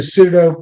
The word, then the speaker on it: pseudo: So you can look up the pseudo. It's PS O U D O Scorpio. Scorpion might silent P in the front.